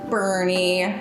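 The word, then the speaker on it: Brne: is what he's called his name is Bernie but it's spelled like b r n e because Moss to the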